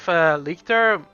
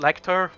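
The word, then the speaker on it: Lector: I used to call the Big Five Lecter, but it's actually pronounced Lecter.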